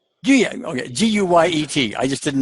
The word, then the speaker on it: Guyet: Pronounce your last name. Guyet. Guyet.